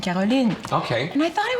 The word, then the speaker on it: Caroline: And she said, maybe we should say Carolyn because it sounds more like the original pronunciation of Caroline.